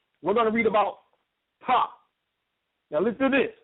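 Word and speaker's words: Ptah: We're going to read about Ta. Now, listen to this, right? This is Ta, spelled P-T-A-H. I don't think you pronounce the P. That's why I'm just saying Ta, right?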